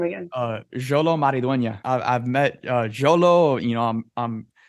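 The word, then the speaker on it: Xolo Maridueña: Jolo Maridueña.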